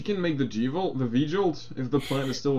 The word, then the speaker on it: V-Jolt: are saying you can make Rebecca make the G-Volt. V-Jolt.